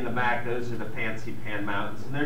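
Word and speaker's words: Fansipan: can see in the back those are the fancy pan mountains and they're spelled if you look in the literature sometimes it's spelled f-a-n-s-i-p-a-n sometimes it's spelled p-h-a-n x-i p-a-n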